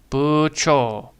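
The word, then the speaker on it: 部長: So, it's K and B but it's not bu, it's not, it's buo.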